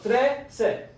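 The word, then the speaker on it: trece: that kind of pattern it's t r e c e so you have that c e ending again but you're adding the three just like you did for the number three so today again today okay now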